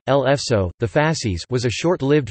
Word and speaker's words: Le Faisceau: Le Faisceau, French pronunciation, L'Faisceau, the Fascis, was a short-lived French fascist political party.